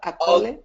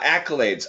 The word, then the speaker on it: accolades: stars are the ultimate how do you pronounce that acculate ah accolades ultimate accolades ultimate accolades great job very good and let